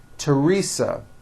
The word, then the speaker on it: Teresa: Although these next words and names are spelled with a TH, they are pronounced as if they were spelled with a normal T, like that. And these words are Thomas, Thompson, Teresa, Thailand, Thames, like the river, Esther, and thyme, which is a spice.